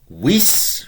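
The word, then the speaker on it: vis: You want wis, remembering we're pronouncing the V as a W if we can.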